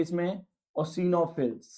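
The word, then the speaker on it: eosinophils: न्यूट्रोफिल्स, बेसोफिल्स, इओसिनोफिल्स, इसमें 'E' silent है, इओसिनोफिल्स। हो गया।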